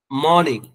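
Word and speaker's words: morning: है डॉन सुबह Sadiq मॉर्निंग मॉर्निंग नहीं है आर का साइलेंट रहेगा मॉर्निंग सुबह नून दोपहर आफ्टरनून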